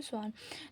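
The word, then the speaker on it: Schwann: और स्वान, ये लिखा चाहे जैसे हो, स्पेलिंग यही होती है, लेकिन पढ़ा जाता है स्लाइडेन और स्वान।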